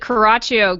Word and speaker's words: Coraccio: And her name is Coraccio. Now, correct me if I'm wrong on the way I pronounced your name there, but I think I got it right. Did I not? You did, Coraccio.